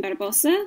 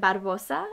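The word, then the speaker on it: Barbossa: This is Captain Barbosa with the little logo on the bottom. He is my favorite pirate. May I also add, I don't think you have to say it with a Spanish accent, Barbosa.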